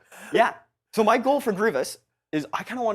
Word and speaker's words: Grievous: Grievous on it and you said Grievous Grievous I had an ey or the amount of comments I just were just like he said Grievious you doesn't know how to pronounce things which is fair it was wrong and now I know uh yeah so my